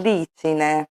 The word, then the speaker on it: glicine: giardino sotto Il Glicine Qui abbiamo l'esempio del GL i che all'inizio come articolo lo pronunciamo gli alla fine parlando del fiore diciamo Il Glicine esiste una regola semplificando